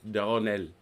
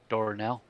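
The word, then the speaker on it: Durosnel: That's Antoine Jean Auguste Doronel. Doronel. Doronel. Mm-hmm. So don't pronounce the S.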